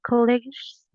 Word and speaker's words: colleagues: Listen to a conversation between two colleagues and answer the questions. Colegas or college? Yes. Is correct the pronunciation? College? Colleagues. Colleagues.